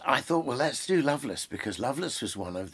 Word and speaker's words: Lovelace: poems by Sir Richard Loveless um it's written love lace but pronounced Loveless and um I certainly